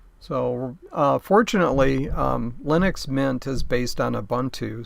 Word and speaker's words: Linux: Linux rhymes with spinach.